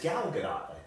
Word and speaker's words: Gal Gadot: come true because no one's still no one pronounce her name and it's gal gadot yeah a gal good don't give it Jasmine